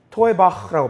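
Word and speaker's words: תּוֹעֵבָה: 히브리어로 이렇게 발음해요. 이거 중요한데 뭐라고 바하면 이렇게 바라 토에바흐라고 발음하거든요. 쉽게 토에바흐 이것을 뜻을 우리가 이해하기 쉬워요.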